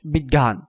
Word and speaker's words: বিজ্ঞান: পাচ্ছ আমরা তোমাদের জন্য দুটি উদাহরণ লিখেছি ব রস ইকার বর্গীয় জয় ইয় আকার দন্তন বিজ্ঞান এটি হচ্ছে তার বানান কিন্তু উচ্চারণে দেখতে পাচ্ছ ব রস ইকার গ হস গ জ ফলা চন্দ্রবিন্দু আকার দন্ত